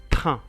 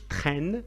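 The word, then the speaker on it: train: اين كنطقها ان بحال هنا عندنا في هذه الكلمه تران قطار تران ما نقولش ترين مي تران.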